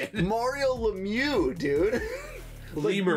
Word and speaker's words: Lemieux: Mario Lemieux, dude.